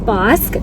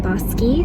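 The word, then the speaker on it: Bosque: the little shop on boss which i've read comments that it's actually pronounced the little shop on bossky so i don't know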